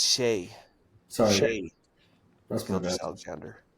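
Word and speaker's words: Shai: want to put an end to it it's Shay sorry sh Alexander not sh he should spell it correctly then well can you think of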